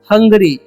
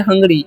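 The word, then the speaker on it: hungry: तो आगे लिखा हुआ वो यू, इसे हम लोग क्या पढ़ते हैं, यू आर हंगरी, इसे हम लोग पढ़ते हैं हंगरी। इसे हुंगरी नहीं पढ़िएगा, यू का उच्चारण अ होता है, ओके।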